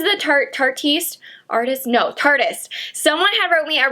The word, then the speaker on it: Tarteist: She said it's like artist but tardis because it's tart. And I was like, that's how you say it cuz you never know. Was it Tartiste?